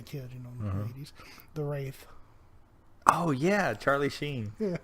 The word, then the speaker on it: Wraith: I watched it when I was a kid, but I mispronounced it. I always call it the Wrath. The Wrath. The Wraith.